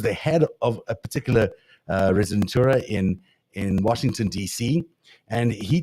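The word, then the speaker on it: rezidentura: Residentura is how you say it, which basically means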